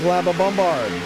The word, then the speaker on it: LaBombard: Eric Labombard. We found out that is exactly how the last name is pronounced, shall we say, with our pronunciation.